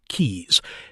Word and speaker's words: Quixs: Celestia Quixs, pronounced Keys, has been publishing the